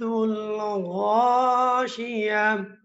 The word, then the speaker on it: الغاشية: এই গুলতার মধ্যে থেমে গেলে এই গুলতাটা হা সাকিন হয়ে যায়।